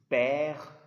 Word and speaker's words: père: It's père, mère. And one thing you need to know, if there is letter E at the end of a French word that doesn't carry any sign, the E is silent.